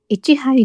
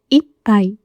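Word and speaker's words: 一杯: 1 杯ではなく、1 杯と発音します。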